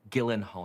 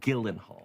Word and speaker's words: Gyllenhaal: Gyllenhaal. Your name is pronounced Genhal. I guarantee you it is not.